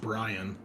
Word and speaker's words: Brion: so I'm gonna be playing Brion uh he's just pronounced Brian to be honest Brian yeah okay